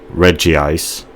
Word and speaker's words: Regice: so so I think this is the official pronunciation Reggie ice and this is how I tongue-in-cheek pronounce it regice regice rather regice regice